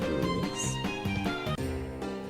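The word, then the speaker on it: Rouxls: It's pronounced rules and the lantern was also the lancer button.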